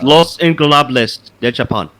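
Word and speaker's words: Los Ingobernables de Japón: Versus Les Ingobernables de Japon, consisting of Tetsuya, Naito, Sanada, and Bushi. Gotta work on those pronunciations, bro. Yeah, I do. It's Los Ingobernables de Japon.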